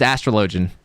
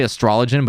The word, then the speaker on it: Astrologian: guys pronounce it astrologian it's astrologian uh some people say astrologin but it's astrologian uh show the vitals